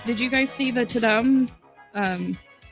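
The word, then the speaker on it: Tudum: you guys see the tadam um i assume it's pronounced to them the t-u-d-u-m live event um netflix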